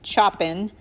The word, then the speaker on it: Chopin: um you'll notice that his name is actually spelled like chopin but it's pronounced chopin because i don't know